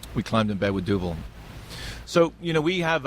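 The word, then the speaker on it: Duvel: did some business with now I'm going to mispronounce the name. Is it Duvall or Duvet? Duvil.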